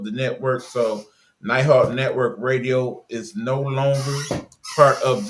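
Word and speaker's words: Rdio: So on it's the station the the platform we're using is called radio. They just took out the A. So it's spelled R D I O AI.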